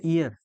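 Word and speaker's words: heir: तो इसको पढ़ते हैं ईयर। पढ़ते हैं नहीं पढ़ते हैं? तो इस ईयर के पहले ए ही लगेगा। और इसको कहते हैं ईयर। ये ईयर। ईयर। इसके पहले कहते हैं एन।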